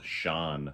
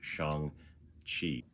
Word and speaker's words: Shang-Chi: So Shang-Chi, I always thought it was Shan, where you don't pronounce the G, but in the movie there's